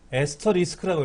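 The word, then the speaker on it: asterisk: 요거 에스터리스크라고 읽어요.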